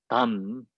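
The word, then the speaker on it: དམ: Pronounce it like the English name tam, kind of tam, means sublime or secret, and refers to the Jinnu and the perfectly waking Buddha.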